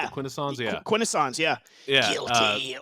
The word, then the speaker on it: Quintesson: The Quintessons, yeah.